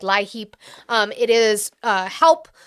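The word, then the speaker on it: LIHEAP: It's spelled like lie heap.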